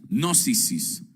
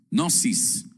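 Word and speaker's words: γνῶσις: se eh deletrea eh o se pronuncia nosis, nosis, la cual significa el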